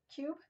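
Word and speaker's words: Qube: There's another company called Fancy Cube. It's fancy, then cube is spelt with a Q. Q-U-B-E.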